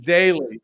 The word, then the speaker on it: Daly: It's Long, in the intro. The first vowel is long. Daily.